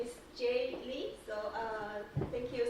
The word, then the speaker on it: Jie: I'm my name is j and the pronunciation it's like letter j j j it's my